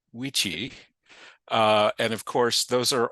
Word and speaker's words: vici: Classic Latin actually pronounced its V's as W's, our best guess is, which means that Caesar would have found it weenie, weedy, and witchy.